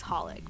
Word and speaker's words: xxxHOLiC: I mean, it's spelled like XXX Holic, but you're supposed to say it like Holic.